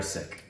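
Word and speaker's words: Sikh: sick you probably referred to him more as seeks yes yeah no that's not correct correct no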